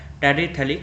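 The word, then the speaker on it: phthalic: इज the relic acid pH यहां पर silent होता है थलिल एसिड तो बेंजीन पर दो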